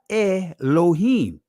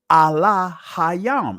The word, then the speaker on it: Elohim: So the proper pronunciation of God per se in the ancient Hebrew is not Elohim. It's Allah Hayam. And I just proved it.